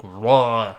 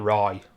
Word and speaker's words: Roy: goenda Patrick Roy or as I'm told it's pronounced Patrick ra or something can't remember it's pronounced but it's not Roy doesn't make sense to